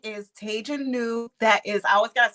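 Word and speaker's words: Taij New: all that wonderful stuff so my name is tejanu that is i always gotta spell it that's t as in thomas a i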